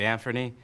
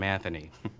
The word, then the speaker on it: Anfernee: I have a nephew named Anthony, and I know how mad he gets when I call him Anthony.